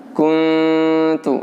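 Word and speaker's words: كُنْتُ: Saat nun sedang kita dengungkan ya, maka posisi mulut kita adalah posisi persiapan huruf ta. Kalau huruf ta di sini yang berdhammah ini dibaca tu, maka saat kita membaca nun mati itu kuntu adalah persiapan ke pengucapan tu, tak yang berdhammah.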